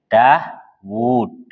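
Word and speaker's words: داود: Dawud. Gitu ya. Wawunya panjang atau pendek bacanya? Pendek, Daud gitu aja. Panjang, nggak pernah baca Daud pendek itu. Nggak pernah. Daud nggak ada.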